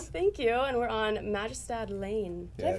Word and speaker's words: Majestad: Well, you could say Majestad. Ooh, I like that better. I like that a lot better. You have to roll your R's and, and pull that J.